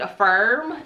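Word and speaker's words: AFRM: are from the brand i'm gonna pronounce it a firm it's spelled a f r m and these are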